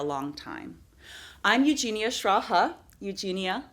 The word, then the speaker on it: Eugenia: I'm Eugenia Schraa, Eugenia like Eugene, and Schraa rhymes with algebra.